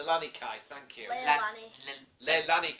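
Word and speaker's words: Leilani Kai: hard to say anyway velvet then clashes with L Lina Kai who has traded in her grass skirts for some black and gold wrestling atti K Lani Kai thank you leani Le leani you can say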